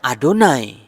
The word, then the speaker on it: YHWH: Meskipun dalam kitab suci tertulis YHWH, orang Israel sendiri ketika membaca YHWH, Yod-He-Vau-He, itu dibacanya Adonai.